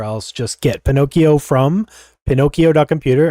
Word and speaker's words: Pinokio: just get Pinocchio from Pinocchio doomu remember it's spelled weird p i n o k i o all right I just